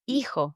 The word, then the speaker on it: hijo: Just imagine it's not there and go straight to pronouncing the second letter of the word.